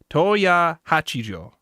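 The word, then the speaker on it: Tohya Hachijo: Let me see if I pronounce this right. Toya Hachijo.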